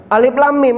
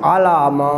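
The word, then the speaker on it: الم: Ah, karena hurufnya dldl itu alif lam mim ada yang baca alama.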